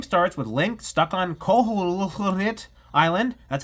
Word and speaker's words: Koholint Island: The game starts with Link stuck on Koholint Island, that's how you say it, and he has to awaken the wind fish to escape.